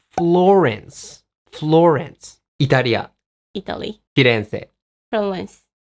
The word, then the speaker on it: Florence: And what about Firenze? In English, you say Florence. Florence. Italia. Italy. Firenze. Florence. What was that? Florence.